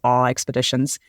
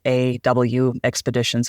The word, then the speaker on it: AWExpeditions: So, I pronounce it as AWExpeditions. And it is just all one word, AWExpeditions, which throws a lot of people off.